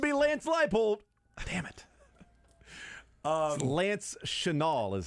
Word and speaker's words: Chenal: Lance Chenal is how you pronounce his last name.